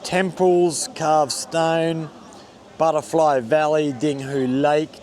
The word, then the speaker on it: Dinghu: And top is homophonous with the Cantonese word ding, and lake in Chinese is pronounced as hu. So Top Lake is called Dinghu in Chinese.